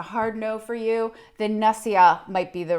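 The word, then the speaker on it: nasya: the list of sort of nasal care is nasia oil and I like to get the one from the ayurvedic Institute it's called supernassia and nasia is spelled n-a-s-y-a and this is a blend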